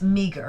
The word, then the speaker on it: meagre: to be a Okay, that's meager, but it's spelled Meagre, which threw me off. In English, today's English, it's spelled with the ER on the end rather than RE.